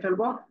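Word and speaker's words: ف: সবাই দ্রুত মুখস্থ করে ফেলেন। নিচের ঠোঁটের পেট, সামনে উপরের দুই দাঁতের আগার সাথে লাগিয়ে হালকা বাতাস বের করে উচ্চারণ করতে হবে।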